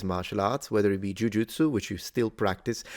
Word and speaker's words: jujutsu: arts, whether it be jujutsu, which you still practice. I know that in the West, sometimes the pronunciation jujitsu is more common, but in Japan, everyone says jujutsu.